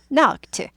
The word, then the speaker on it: knocked: 또 그래서 문제가 생겨서 그래서 그는 knocked 딱딱딱 두들긴 거죠. 똑똑똑 놓고 했습니다. 두들겼습니다. knocked 트 발음이 나요.